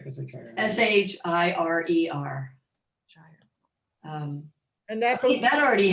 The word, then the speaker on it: Shire: Is that Schreier or Shire? How do you say that? Shire building.